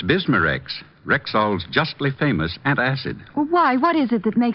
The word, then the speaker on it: Bismarex: B I S M A- R E X.